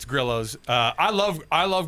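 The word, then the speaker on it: Grillo's: Hispanic pronunciation. Why isn't it Gorillos? It's a Griios. No, it's Grillos.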